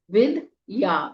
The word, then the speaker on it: विद्या: पूरा विघ्न त ब्रह्म विद्या व में छोटी इ की मात्रा आधा द विद विद या विद्या सिद्धौ स में छोटी